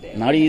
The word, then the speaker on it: Naari: Nari is like, it's spelled like N-A-A-R-I.